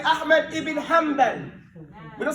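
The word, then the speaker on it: حنبل: We say Ahmad ibn Hanbal.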